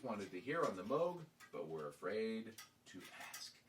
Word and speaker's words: Moog: The Moog used for this album, is there anybody still left who doesn't know that Moog rhymes with vogue? Vogue, or rogue, it says here.